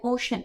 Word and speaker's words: Oshun: How do you pronounce it? Oh, the healing ocean. OSHUN, ocean.